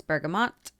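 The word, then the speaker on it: bergamot: looks if it's French it looks like it should be bergo but she says it's bergamont the t is pronounced and I will believe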